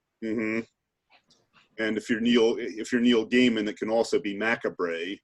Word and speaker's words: Gaiman: I think I was mispronouncing Neil Gaiman's name, like his last name. I think I was like Gaiman is what I originally started with, and then